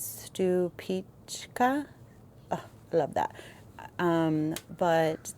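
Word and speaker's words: Stupice: And this one how it says it's pronounced is stupic.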